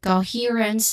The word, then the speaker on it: coherence: Okay, so we have an example of this is co, which sounds like co, and then high or here you stress out the character for that.